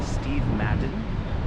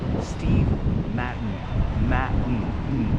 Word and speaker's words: Steve Madden: This is interesting because you can pronounce it two different ways. You can say Steve Madden or Steve Matten.